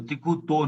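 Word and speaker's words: तिक्खुत्तो: तो तिक्कुतो तो तिक्कुतो नहीं, तिक्कुतो, ये आधा तय और फिर पूरा तय, ये ध्यान रखें। तिक्कुतो, राइट। तो तिक्कुतो क्या है, मतलब 3 बार। तिक्कुतो का अर्थ हुआ 3 बार।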